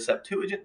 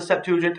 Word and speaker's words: Septuagint: the origin of the Septuagint, and other Greek versions. So remember, the Septuagint, which could be pronounced either Septuagint, like 4 syllables, or Septuagint, but I say Septuagint.